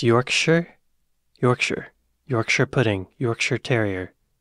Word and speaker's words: Yorkshire: viewers it's pronounced sh not sh actually it's pronounced sh not she ple so it's Yorkshire Yorkshire Yorkshire pudding Yorkshire Terrier yeah Yorkshire Yorkshire